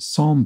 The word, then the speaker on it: psalm: in Los Angeles and Psalm beginning a silent p according to so you